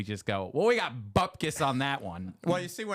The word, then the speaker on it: bupkis: How do you say it, Lorna? Bupkis. That's it. Just Bupkis.